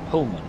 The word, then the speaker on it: Pullman: How do I pronounce Pullman? Pullman.